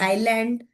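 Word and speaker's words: island: तो letter S is silent before letter L. Same, it कैन नॉट be blended, स्ल, स्ल, स्ल। सो वो ब्लेंड नहीं होगा प्रॉपरली, इस वजह से ये लेटर एस साइलेंट हो जाता है, like in the word word आइलैंड, जाइल, ठीक।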